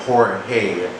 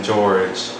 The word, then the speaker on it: Jorge: knows me yeah cuz some people call me George and I don't like that she was like oh